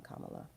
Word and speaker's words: Kamala: Um, Kamala.